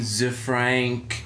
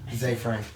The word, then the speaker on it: Zefrank: And finally, on our tech biffo, a little rocket boom, Zefrank. Zay. Is it? Zay Frank. That's an Australian mispronunciation, Zefrank.